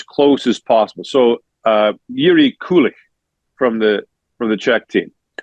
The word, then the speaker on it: Kulich: So Yuri Kulich from the Czech team. We don't say ich in English. So ICH in Czech is like ich. Not quite that hard, but so we cheat it.